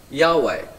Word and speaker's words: Yahweh: Witnesses of Jehovah or as the name of God should be pronounced Yahweh that God has chosen